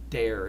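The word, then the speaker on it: Doerr: There was a Matilda and Edward Dare, D-O-E-R-R, pronounced Dare.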